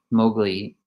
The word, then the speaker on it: Mowgli: So Mowgli, that's how you say it, Mowgli speaks up and says to him, finally asks, like, what is this?